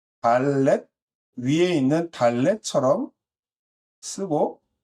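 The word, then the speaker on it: דלת: 다섯 번째는 이제 해라고 하는데 읽을 때는 해라고 읽고 쓸 때는 네, 달렛 위에 있는 달렛처럼 쓰고 그 다음에 작은 작대기를 하나 써주는 겁니다.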